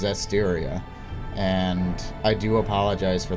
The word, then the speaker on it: Zestiria: So I was doing that, and I just said after that, I was like, oh, I'm pretty sure it's Zestria. I've looked further, and it's Zestiria.